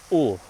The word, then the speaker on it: Hull: Since I've finished most of it and it's time to do something, I've visited Hull, or as the locals say, 'ull', meaning they eat the letter H.